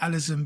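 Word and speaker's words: Alizon: Some of the accused, such as Allison Device, and I call it Allison because it's spelled with a zed, believed that they were guilty.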